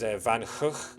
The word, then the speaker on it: Van Gogh: Apparently, the correct pronunciation, according to Dutch people, is Van Gogh. Apparently, both G's are kind of like a sound, like the Scottish loch. So Vincent van Gogh is how you're supposed to pronounce his name.